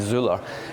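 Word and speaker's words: Zoeller: Fuzzy Zeller. Zea, that's right. Yeah, that's how the Americans would pronounce it, right? It probably be Zuler.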